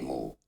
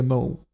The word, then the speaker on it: mots: Silent S to mo. To mots. Silent T. Je te laisserai des mots. Je te laisserai des mots.